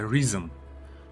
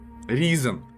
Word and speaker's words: Risen: Но эта игра, так как это делали ее германцы, вот, она не читается по-английски, она читается Risen.